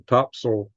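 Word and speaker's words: Topsail: launch One mission from topsil that's what the local called topsil it's spelled top sale Beach North Carolina and I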